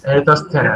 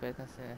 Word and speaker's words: Eratosthenes: সিভ অফ ভাই এটা এরাটোস্থেনেস। Eratosthenes. Pronounce ভাই আচ্ছা প্রনাউন্সিয়েশনটা সার্চ দেন। হ্যাঁ দিছি, সি অফ এরাটোস্থেনেস, হ্যাঁ।